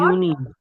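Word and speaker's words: Juni: বলবো মাই মাই মাই ইয়া মাই মাই তারপর ইউনি ইউনি এরপর ইউনি ইউলি ইউ বলি আগস্ট আগস্ট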